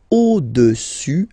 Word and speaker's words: au-dessus: Le cube est au-dessus, final S not pronounced here, au-dessus du cylindre.